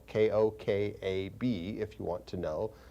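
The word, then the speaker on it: כוכב: It's spelled, some of you I'd been asked one time to spell these terms for you, so it's spelled K-O-K-A-B if you want to know.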